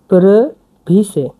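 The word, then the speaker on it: previše: yellow যে প্রবিশে সোলজেন এটা উচ্চারণ হচ্ছে পি আর ইভি আই এসই প্রভিস প্রভিস আর সোলজেন তো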